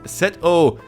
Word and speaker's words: Seto: And the name Setto comes from the Egyptian deity sets pronounced setto in Japanese who is none other than the brother of Osiris better known to us as Slifer.